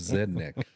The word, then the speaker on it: Zednik: do you pronounce that he goes like a rednick except Zednik Zednik Zednik veli yeah